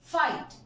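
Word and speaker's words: fight: है हमारा रीज़न कि अगर जीएच या जी एचटी किसी भी वर्ड के लास्ट में हो तो जीएच साइलेंट होता है सी हाई एट हाइट फाइट Thai फ्लाइट देखो इन सारे वर्ड्स में यह जी ए साइलेंट है फ्रेंड्स सो दिस इज़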